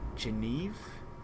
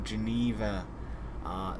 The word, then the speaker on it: Geneva: France right now so Oh Geneva like the Geneva Conventions I see I see now I know how to say it properly cool okay we're going